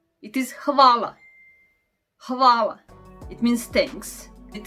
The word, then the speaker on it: hvala: It is lion in English, and it is actually pronounced the same like L in lion. Okay, then we have H. H. It is hvala.